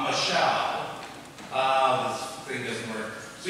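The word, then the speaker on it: מָשַׁל: The Hebrew word for rule, and I just put that up on the screen because I could, that it's pronounced mashal.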